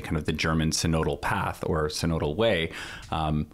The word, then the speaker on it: synodal: kind of the German codal path or codal way um which is how you pronounce codal um because it's a single it's it's a vowel followed by a single consonant and then another vowel so that makes the